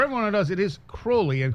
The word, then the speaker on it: Crowley: and for everyone who knows, it is Crowley, and Crowley used to say rhymes with holy.